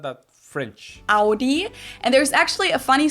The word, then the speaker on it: Audi: the first one is Audi most Americans that I know pronounce it like I just saided AI in German we say Audi Audi Audi it all depends where